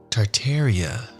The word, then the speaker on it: Tartaria: Tartaria, originally pronounced Tartaria without the first R, is the name of the pre-Mongolian empire that originated in northern Asia before spanning the entire northern hemisphere.